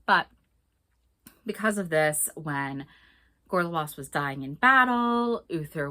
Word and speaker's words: Gorlois: of Cornwall, married to the Duke of Cornwall, Gorlois. And I hate that his name is pronounced that way. I know it's the right way. I always want to say Gorlois.